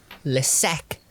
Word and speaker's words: Le Sac: Is it Lesaque? No, SAC, like a cul-de-sac. Le sac.